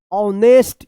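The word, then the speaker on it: honest: देखिए ये H silent वाला है। ठीक है ना? तो कौन सा है? पढ़िए फटाफट। ऑनेस्ट क्या पढ़ेंगे इसको?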